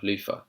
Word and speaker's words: Luther: Um, but then with TH turns to F. Luther. Lofah. Lofah. Lofah. Yeah, Lofah. That's the kind of multicultural London English way of pronouncing Luther.